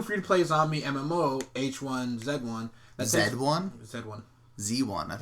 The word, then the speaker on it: H1Z1: play zombie MMO H1 Z1 Z1 Z1 Z1 I no it's not Z1 it's Z1 you pronounce it Z de one yeah like you're a Canadian yeah dude I looked